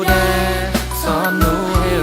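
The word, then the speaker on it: DARE: ดี a r อี อ่าน ว่า แด แปล ว่า กล้า พวก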